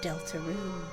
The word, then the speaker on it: Deltarune: This is the legend of Deltaroon. No hyphen separate space. That's the correct pronunciation apparently.